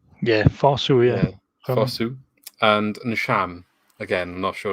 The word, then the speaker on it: Fosu: Yeah, Fosu, yeah. Fosu. And Nsham. Again, I'm not sure if that's the correct pronunciation, but Celtic.